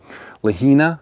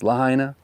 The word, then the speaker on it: Lahaina: Lahina. It's not lahina, it's lahaina.